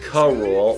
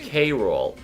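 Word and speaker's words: K. Rool: before the show but for most of the show it's pronounced co-rule while if you saw his name alone you'd say it was pronounced k-rool it's only in this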